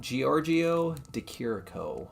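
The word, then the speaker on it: Giorgio de Chirico: work um his name again is uh gor Giorgio deiro is how you pronounce his name but this is an example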